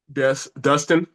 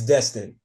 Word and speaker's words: Destin: Dustin It's Destin. Destin. Yeah, I'm about to, Destin.